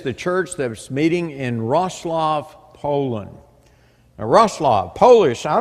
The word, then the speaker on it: Wrocław: But every time I'd say Warclaw, I'd almost get clobbered because they'd say it's not Warclaw, it's Wrocław. I said, all right, I'll try, but y'all be patient with me.